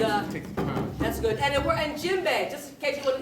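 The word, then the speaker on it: djembe: j m b e the D is silent d j e m b e so we say jimbe by not pronouncing the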